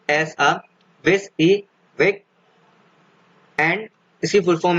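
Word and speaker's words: WYSIWYG: Then WYSI, WYG is pronounced as a WIS E WIG and इसकी full form है what you see is what you get.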